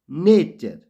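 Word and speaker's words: nature: टी यू आर ई नेचर डब्लू ए टीई आर water यहां friends आपने देखा partial में टी श के रूप में पड़ा नेचर में टी चौ के रूप में पड़ा और वाटर में टी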